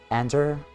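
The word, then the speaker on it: Anyder: Ander. No, the the Y is silent.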